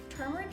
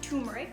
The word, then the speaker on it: turmeric: Turmeric is spelled with an R. The R is not optional, so you don't call it turmeric, you call it turmeric.